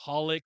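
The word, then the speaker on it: xxxHOLiC: Um, so I got the clone of Lee Sauron from Subasa Reservoir Chronicles, Holic, or I know you don't pronounce the X, but XX Holic, that universe, Card Captor Sakura, all of that.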